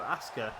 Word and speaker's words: Asuka: ASA I think you ASA so essentially you're it's you're saying Asuka which is how it's spelled but you're you're just missing the U out really so ASA you just saying it really quickly that's uh that's